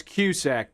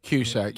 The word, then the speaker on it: Cusack: It's cusack, but it doesn't matter. Qack. You're right. Don't you say it like a Q? Like the letter Q. Yeah. Yeah. I say QAC. Somewhere in between the two since it's a C.